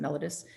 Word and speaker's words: mellitus: a clinical app on diabetes mellitus or mellitus i pronounce it mellitus that you can read